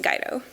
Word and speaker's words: Guido: guide oh yes my last name name is pronounced guide oh yeah so I do all of my work